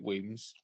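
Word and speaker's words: Wemyss: it's easier to say than to read you pronounce it Williams it's a Scottish word for caves as in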